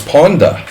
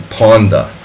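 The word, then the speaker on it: Pawnda: more like that exactly Ponda so it's Ponda ah like a hard a sound so it's like a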